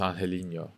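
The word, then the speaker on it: Angeliño: He's like, because I know it's difficult to say, but the correct way to say it is Angelino.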